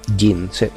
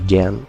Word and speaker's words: Jin: le gusta ese personaje, Jin. Así se pronuncia, ¿no? Jin. En mi cabeza no sé por qué lo leo como Jen, pero es Jin, ¿no? Jin. Como Jean Grey, la de los X-Men.